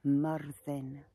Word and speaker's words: Myrddin: I'm going to call in my spirit guides, my druid, who is called Myrddin, which is the Welsh pronunciation of Merlin.